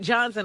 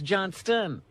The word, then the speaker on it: Johnston: And it's not Johnson, it's Johnston.